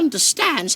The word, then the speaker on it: understand: Understand. Oh, yes, sir. Dobby understands. কোনটা correct বলেন তো? Definitely the third one.